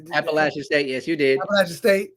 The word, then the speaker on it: Appalachian State: Appalachian State, yes, you did.